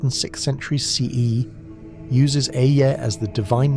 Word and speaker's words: Ehyeh: The pronunciation is Ehyeh, with the emphasis on the first syllable. The eh sound is open, relaxed, like the beginning of egg. The eh sound ends with a slight aspirated breath, almost like a sigh.